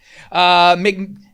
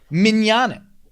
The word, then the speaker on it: mignonette: Mignanet? Oh, Mignonette.